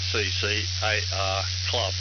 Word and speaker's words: @CCARC Club: There is also a Twitter account on @CCARC Club, and that's pronounced CCAR Club in full, and as a YouTube